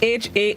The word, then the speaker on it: harkback: of the day this morning is hardback heartback it's spelled h-a-r-k-b-a-c-k harkback it is a verb which means to